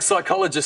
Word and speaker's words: psychologist: Yeah, like, things like psychologist starts with a P.